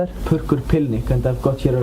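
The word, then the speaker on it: Purrkur Pillnikk: How do you pronounce that? Perk Pilnik.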